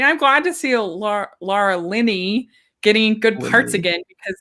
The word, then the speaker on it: Linney: cornyn for the crown laura linney and they said lindley did you like that so there